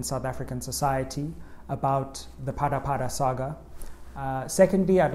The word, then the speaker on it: Phala Phala: next phase for president Cyril ramaphosa's crisis The parapara Saga and yes that's how you pronounce it right let's get going spread